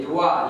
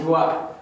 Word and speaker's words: doigt: excellent et les les doigts les doigts on ne prononce pas le G le doigt répète doigt